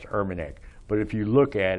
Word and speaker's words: Urmanic: know because my name my last name is pronounced Urbanek but if you look